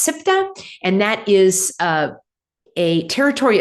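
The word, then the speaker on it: Ceuta: Okay, this one here, it's actually pronounced SIPTA, and that is a territory of Spain in the geographic country of Morocco.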